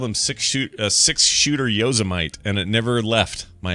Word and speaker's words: Yosemite: get relentless teasing from my uncle because I pronounced Yosemite Yosemite. Oh, really? Yeah. Yeah. Well, see, and I know it's Yosemite, but my friend's such a dingleberry.